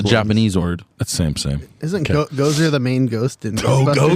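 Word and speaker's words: gose: Grenadine Ghost. with notes of grenadine. Is that how you say ghost? Goze? I think it's actually pronounced Goza. Goza.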